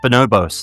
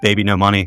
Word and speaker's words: Baby No Money: She's like, "It's pronounced Bonobos." And I'm like, "It's not. It's Baby No Money. They say it in the song."